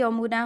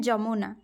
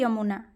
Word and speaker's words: यमुना: में व्यव हुए हैं य का उच्चारण हिंदी में ज नहीं होता है कभी भी आप जैसे कि यमुना होता है ठीक है हम क्या बोलते हैं उड़िया में जमुना लेकिन वह हिंदी में क्या होता है यमुना ठीक है जबकि ओड़िया